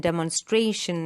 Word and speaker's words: demonstration: It comes on the syllable before TION. Okay, so attention, the stress is given on the second syllable. Attention, competition. See, the shen is not stressed. It is the syllable right before the last syllable.